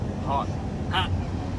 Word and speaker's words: Haughton: Haughton, Louisiana. Am I pronouncing it right? We don't know. Close. It's okay. Close. Close. How did they say it there? Hot.